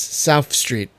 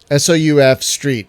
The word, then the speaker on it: South Street: no did you and it is not South Street which is a big thing it is South Street sou F Street one word so things are pronounced